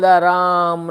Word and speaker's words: राम: भी सब जगह स्पेलिंग राम भगवान का RAM ही लिखा है, तो रामा नहीं हो जाता, राम ही बोलते हैं उनको।